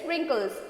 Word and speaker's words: wrinkles: W-R-I-N-K-L-E-S, wrinkles. Wrinkles, you only pronounce the word wrinkles. The word W will be silent.